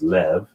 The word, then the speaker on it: Lev: And in the Hebrew, the B and the V are the same letter. So bait and vate, or bet and vet, is the same letter. So in the Hebrew, they use the V pronunciation, which is Lev, but this represents the heart.